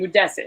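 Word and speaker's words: Modestas: Modestus.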